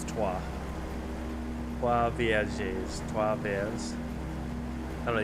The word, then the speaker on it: Trois: I do know it's Trois, not Troyes. It's Trois.